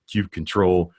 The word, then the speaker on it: kubectl: how to pronounce this, whether it's kubectl, kubecontrol, or kubectl. In the end, I don't care, right? I call it kubectl, and that's because of how I feel, but there's other people that feel other ways.